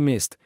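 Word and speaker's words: месть: algo en línea utilice mest y mest es la pron mest es la pronunciación de la palabra venganza en ruso asegúrese de comprar siempre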